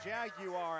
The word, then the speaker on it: Jaguar: That's a Jaguar, as the the Brits would say. They add that third syllable.